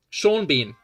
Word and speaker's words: Sean Bean: Sean Bean. His name is spelled Ceanbean. Right? But they're both different pronunciations of EAN.